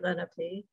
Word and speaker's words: Lenape: Yes, Lenape is the way that Lenape people pronounce the word. And I grew up saying Lenape. And a lot of people in South Jersey say Lenape. And, but it is Lenape.